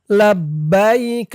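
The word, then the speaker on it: لبيك: তো এখানে আপনারা থামবেন থামলে উচ্চারণ করবেন লাব্বাইক কাফের উপরে জবরটা সাকিন হয়ে যাবে থামার কারণে লাব্বাইক লাব্বাইক আল্লাহুম্মা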